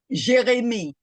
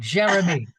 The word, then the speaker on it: Jérémie: Jérémie. I knew I got it wrong. Jérémie. Yes. Perfect. Yeah, but I anglicized it bad. Jérémie. Jérémie, exactly.